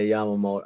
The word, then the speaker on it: Yamamoto: like the whole Yamamoto uh I think I pronounced it right yeah y shobi Yamoto yeah Yamamoto like listen man um when it comes to